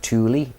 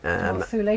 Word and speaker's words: Thule: The very bottom one of those is an island called Southern Thule, which is spelled Thule, but I think in German is pronounced Thule. Thule.